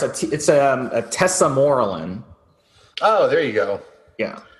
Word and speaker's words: tesamorelin: It's tesamorelin. Is that how you pronounce it? Say it one more time. I didn't hear you. Yeah, I'm sorry. It's a tesamorelin.